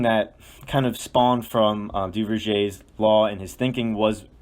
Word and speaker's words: Duverger: You're going to get led back to the same person, and that is Maurice Duverger. As a little bit better than the last one. Excellent pronunciation this time.